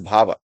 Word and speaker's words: bhava: are known as bhha b h a v just pronunciate it it is bhava so all these things